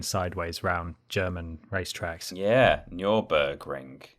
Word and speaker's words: Nürburgring: Yeah, Nürburgring. It's not the Nuremberg ring, is it? I don't know. No, of course it's not. It's the Nürburgring. Nürburgring. Yes. That's how you say it.